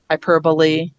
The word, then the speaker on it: hyperbole: So we do have some words where the E is pronounced. We have apostrophe, simile, recipe. We have a few words. There's maybe a dozen common words in the English language where the E is pronounced. And then there's ones that we run into. Apostrophe, hyperbole. Those are Greek. I think they're Greek influenced words.